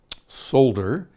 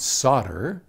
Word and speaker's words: solder: i cannot do so in britain solder the l is said and solder in american and well it's pretty close to french is a silent l now this who